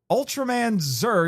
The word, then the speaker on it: Ultraman Zearth: But yes, we watched Ultra Man Z because that's how it's actually pronounced.